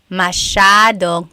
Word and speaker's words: masyadong: Masyadong means a lot. So the S-Y-A is a sha sound.